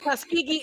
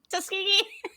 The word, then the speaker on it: Tuskegee: Uh, Tuski, Tuskani, I can never pronounce it right. Thank you. Tuskegee Airman. Tuskegee Airman.